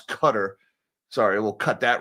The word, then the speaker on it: Qatar: 400 jet engines to Qatar. I'm sorry, Qatar. I've had some people got on get on my case about the way I I pronounce cutter.